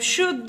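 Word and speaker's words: should: طيب شود، ال معانا سايلنت فبقول شود، وش جت منين؟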